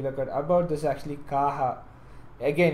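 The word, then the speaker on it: Caja: Kaja which which how we pronounce normally is pronounced as kaha anyway moving on further moving on forther what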